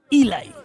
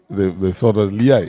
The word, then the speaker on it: Eli: As a matter of fact, they may have heard your name, Eli, and name him. They thought it was Liai.